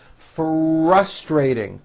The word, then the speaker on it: frustrating: a great financial center frustrating strong r's in that word for us trey ting good pronunciation can be